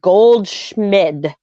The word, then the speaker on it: Goldschmidt: he was in Arizona, it's Goldschmidt. There is a T at the end. There is an M in there, and it's Schmid.